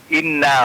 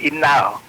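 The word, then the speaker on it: إِنَّ: inna, Pak. Dia bacanya innal.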